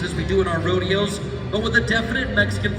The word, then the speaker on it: rodeo: The name of our sport, rodeo, pronounced in Spanish, rodeo, meaning the roundup.